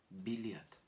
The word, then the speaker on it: билет: avec une accentuation finale également. Encore une fois, B, I, L, Y, T, biliat.